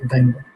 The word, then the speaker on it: dunder: Now In Python community, these two underscores are also known as dunder. As we are pronouncing it two times, so you can say it as dunder, init, dunder methods.